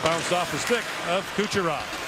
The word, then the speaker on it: Kucherov: And it bounced off the stick of Kucherov. He was Kucherov when he played internationally, but he's asked for the more North American style pronunciation.